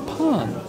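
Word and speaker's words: pain: Oh, pon in the end is muted? Really? Is it? Pa? It's not pa, it's pon.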